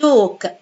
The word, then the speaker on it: talk: قلنا قبل كده عشان لما يجي بعد دي L I write it A but I pronounce it O. أكتبها A بس أنطقها L. والL هنا silent. Talk.